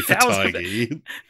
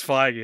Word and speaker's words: Feige: Oh yeah, I guess it's Feige, isn't it? I was about to say, how has no one said fatigue yet until now? But it's because it's not fucking pronounced that way.